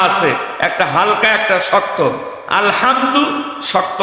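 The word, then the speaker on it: الحمد: এই যে আলহামদু আরবিতে দুইটা হা আছে একটা হালকা একটা শক্ত আলহামদু শক্ত হা বড় হা মানে সকল প্রশংসা ওই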